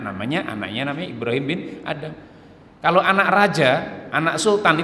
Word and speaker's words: Adham: saya bacakan Ibrahim bin adham bacanya Ibrahim bin ADB Adha tulisannya Alif dan hak dan mim Adha bukan Adam tapi ada hub Hai Beliau juga nulis